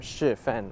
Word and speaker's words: Shifen: And very accessible from Shifen also.